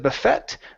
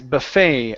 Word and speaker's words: buffet: Instead of buffet, the word is buffet, a breakfast buffet.